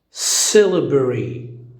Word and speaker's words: syllabary: Syllabary, syllabary, syllabary. أي كلمة من 4 مقاطع راح نسويها 3. syllabary, syllabary, syllabary.